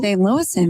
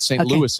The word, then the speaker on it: St. Louis: Louis St. Louis very good was close I added one extra syllable I was gonna